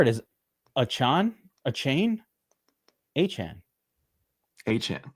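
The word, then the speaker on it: Achane: I don't know about Achan there either. What's the correct pronunciation? Somebody said I've been pronouncing Achan's name wrong. You did it right the second time. H-Chan. Yeah, that was right. H-Chan.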